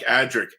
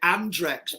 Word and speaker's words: Adric: We all used to pronounce it Andrex because there was a toilet tissue called Andrex, and so it was.